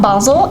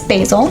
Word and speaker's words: basil: again Australians pronounce incorrectly it's not Basel it's basil glad we're clearing some